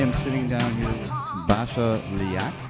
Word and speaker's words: Basia Lyjak: sitting down here with Basia Lyjak. Am I even close to pronouncing that correctly? That's the Polish way, but Okay. which is pretty impressive. But it's Basia Lyjak.